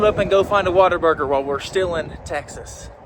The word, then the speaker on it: Whataburger: Let's load up and go find a Whataburger while we're still in Texas. There it is, that beautiful W. There it is. The iconic A-frame shape. And no, it is not pronounced water. It is Whataburger.